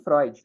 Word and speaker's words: Freud: Esse fonema aqui, esse EU, por exemplo, ele está lá no nome do Freud, né? Que a gente fala à torta e à direita. E a gente fica falando Freud, Freud, Freud, Freud, mas escreve com EU.